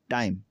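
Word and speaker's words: time: कि नंबर 14 पे अगर किसी लफ्ज़ के आखिर में ई आता है तो ई अक्सर व बेशतर साइलेंट रहता है। इसमें देखें टाइम, ये टाइम पढ़ाया जाएगा, टाइम वक्त, ई इसमें भी जो ई साइलेंट होगा।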